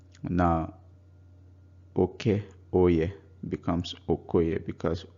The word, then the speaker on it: Okoye: Remember, Oke is male, so the boy becomes Okoye. Now Oke Oye becomes Okoye because O forces the A to drop out of the spoken word.